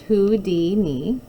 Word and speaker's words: Houdini: acrobat and a writer Harry Houdini pronounced who D knee didn't even really like